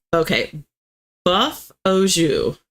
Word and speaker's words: jus: So Ian says, okay, buff au jus. Jus is impossible. There's nothing in English that sounds like that. It's just like Jew, but only pronounce the J.